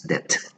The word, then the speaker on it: debt: it deuda, many people say debut and they pronounce the B, no, it's debt.